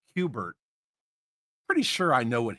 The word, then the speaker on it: Kubert: 2, if I know it's pronounced Kubert, pretty sure I know what his first name is.